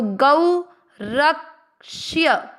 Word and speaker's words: गौरक्ष्य: और यह पूरा है ये तो गौ रक्ष्य। ठीक है, र पूरे के साथ आधा का रक और आधा श षटकोण वाला य पूरे के साथ ष्य। गौरक्ष्य वाणी और इसके बाद